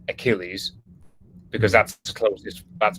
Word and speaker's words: Achille: So we would say Achilles, whereas the French say Achille.